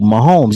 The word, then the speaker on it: Mahomes: about this I think it rhymes with domes Gomes oh Mahomes yeah Patrick Mahomes he's